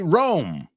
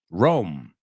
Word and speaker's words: Rome: this stuff uh also we say Rome Rome an easy way to remember that one is roaming on your telephone but also if you